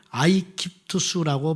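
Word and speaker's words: Aegyptus: 근데 로마 사람들은 이집트를 발음할 때에 아이깁투스라고 발음을 했대요.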